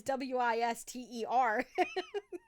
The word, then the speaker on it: Worcester: Worcester is Wister. Like wisteria. I don't know.